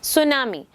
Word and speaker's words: tsunami: सुनामी, a series. सुनामी, यहाँ यू कैन see that T is silent और एस हम इसे प्रोनाउंसिएट करते हैं.